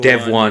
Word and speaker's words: Devuan: Is that the correct pronunciation for that? Devwan. Mark? Dev one.